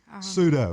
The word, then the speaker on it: pseudo: I don't p sue e or something. I don't know how to say it. Pseudo. Pseudo. Yes, pseudo grandmothers.